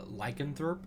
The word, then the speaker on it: lycanthrope: a I got always I always mess up pronouncing this word like cancer tree that's how you say it oh lycanthrope like a control my bad my bad I'm